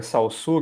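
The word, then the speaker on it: Saussure: É Salsur. E Salsur Sir. Nossa, horrível minha pronúncia. É, qual é a origem do nome? É francês. É francês. Francês. É, ele é genebrino, né? Socir.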